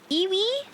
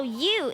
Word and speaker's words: ewe: Iwi? I think it's iwi. Is it a bird? A female sheep. Oh. You. Oh, you. It's pronounced you.